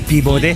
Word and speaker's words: Peabody: You say Peabody with a silent Nothing silent.